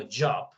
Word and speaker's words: job: Pero si viéramos otra palabra como job, ¿cierto? J-O-B, J-O-B, por lo general terminamos pronunciando la hop. Entonces no hemos asimilado que las Jotas tienen sonidos de y. Job, pajamas, jam, ese sonido y.